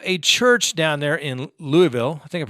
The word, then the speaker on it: Louisville: church down there in Louisville I think I pronounced that right Louisville Louisville Louisville Louisville Louisville Louisville so we have a Louisville here in Colorado but I think it's Louisville like Louisville Slugger anyway a church down